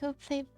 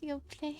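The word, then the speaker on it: Yoplait: It's just your play putting my pinky up. It's just your play. Although your play maybe is kind of already because you don't pronounce the T at the end, but they're not actually they're not actually French.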